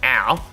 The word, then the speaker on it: Au: Jack Au, I finally know how to pronounce this guy's name. It's Au.